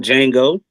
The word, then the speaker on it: Django: You seen Django. The D Okay. is silent.